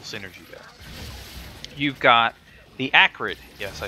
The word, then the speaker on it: Acrid: You've got the Acrid.